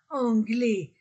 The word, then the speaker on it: anglais: vOYEL l'hôel le anglais anglais a I on ne prononce pas le S l'anglais le anglais l'anglais